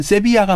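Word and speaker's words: Sevilla: 이태리 사람이니까 이태리 발음으로 이태리에서는 얘기하죠. 세빌리아. 아, 세빌리아. 씨. 이 철자도 다르잖아요. 네네네. 그러니까 GLIA 세빌리아란 말이에요. 그런데 이 카스텔라노 그러니까 스페인어 공식 스페인어에서는 세빌리아에서 VILLA는 세비야가 맞아요.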